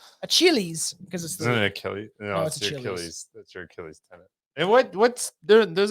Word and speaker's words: Achilles: um let's just go I I think it's a Chili's and this is my per I'm gonna we're gonna find out how to pronounce this okay uh we were it was Achilles yep so Billy was right I just as